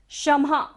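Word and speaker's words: क्षमः: समुद्र शशांक कांतान, कस्ते शम्हा, शम्हा पर क्या है, विसर्ग है, तो यहां पर हमें सारी सांस को बाहर छोड़ना है।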